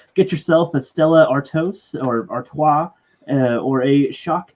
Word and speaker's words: Stella Artois: Is that pronounced Stella Artois, even though it's spelled Artois? Is that Stella Artois?